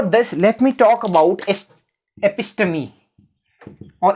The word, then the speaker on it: episteme: So before this, let me talk about episteme or episteme. Episteme is the correct pronunciation.